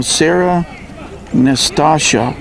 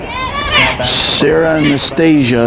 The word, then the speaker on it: Anastasia: we have now Sarah Nastasha pinch running. Sarah Nastasha is running. Okay. Number 5, Sarah Anastasia. Sarah Anastasia is how they pronounce it.